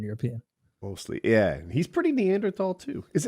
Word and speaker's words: Neanderthal: I've always said it it's supposed to be Neanderthal but they shouldn't have thrown that H in there if they wanted people to say it right that's how that's how